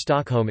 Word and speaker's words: Stockholm: the s vocalized, whilst in Swedish Stockholm is pronounced with a more emphasized glottal stop which is missing in English.